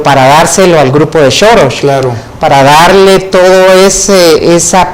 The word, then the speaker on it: Soros: En idioma húngaro, del cual es nativo el financista, la S se pronuncia sh, entonces es Soros.